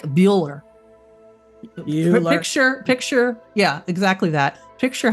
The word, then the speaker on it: Bueller: Yeah, but if you don't put it over there, it's Buller, right? You would pronounce it Buller without the.